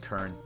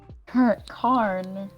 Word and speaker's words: Karn: You pronounced Cyril's name wrong? I did. You confused me there. I keep on saying Kern. Karn.